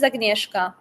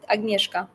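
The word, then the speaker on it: Agnieszka: I am from Poland my full name is agneska that's how you pronounce it agneska really aay God give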